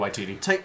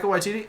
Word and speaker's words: Waititi: Waititi. Taika Waititi.